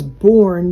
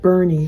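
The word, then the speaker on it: Boerne: put myself a note it looks like it's born but it's pronounced Bernie that area so they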